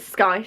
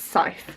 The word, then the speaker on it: Scythe: time has passed so this is the i pronounce it sky because i'm an idiot and i say things how they're written um but it's pronounced scythe um and this is by neil schusterman this